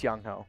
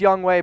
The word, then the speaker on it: Younghoe: It's Younghoe. I know it's Youngway, but I mean, come on.